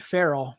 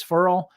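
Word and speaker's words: Ferrell: to say his name I've always thought it was Cleland Farrell but I heard uh gosh who was it I heard somebody that talked to him and they asked him how do you say your last name because everybody says feral and he said it's feral like referral and so that was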